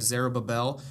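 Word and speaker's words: Zerubbabel: written what was going on uh we have zarab Babel who led the first gr is I pronounced that right oh yeah okay thank you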